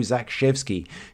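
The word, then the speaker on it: Zakrzewski: of course Joe and I'm told by Caroline The aage Athlete on Twitter this is pronounced Joe Zak shvy who we talked about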